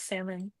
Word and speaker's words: salmon: He said, "Yeah, the L is silent. T will." And he's the perfect person to ask, you know, or know because he loves salmon.